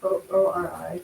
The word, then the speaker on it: ORI: O-R-I, but it's pronounced Ori.